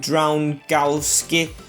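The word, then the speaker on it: Drągowski: As Dragowski is in goal, or I've been told to pronounce it Drown-Gowski. I think that's how you do it, Drown-Gowski, so I'll try that.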